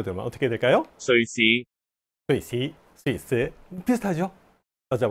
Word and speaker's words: 瑞士: 광동어 발음으로 들으면 어떻게 될까요? 瑞士 스위스, 스위스 비슷하죠?